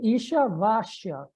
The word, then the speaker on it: Ishavasya: Eu acho que é Ishavasya, porque o S ele é pronunciado como CH, né?